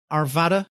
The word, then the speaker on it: Arvada: So you're based in Arvada, Colorado. Am I pronouncing that right?